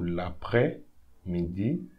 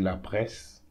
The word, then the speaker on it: l'après-midi: Don't pronounce the S here, so l'après-midi. Don't say la presse, l'après-midi.